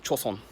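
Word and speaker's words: 조선: So the word that I just said, Joseon, in Chinese, same characters, pronounced Chaoshen. In Korean, Joseon, and in Japanese, Chosen. So when Japan annexed Korea, it was calling itself Joseon.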